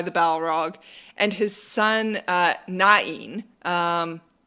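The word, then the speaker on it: Náin: Balrog, and his son Nain, and some people pronounce it Nain. I saw a really convincing argument to pronounce everything with 2 syllables, so that's what I'm going to roll with.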